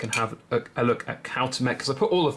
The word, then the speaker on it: Cuauhtémoc: Let's just quickly go back and have a look at Cuauhtémoc, because I put all of that research time into learning how to pronounce his name, all to not show him for very long.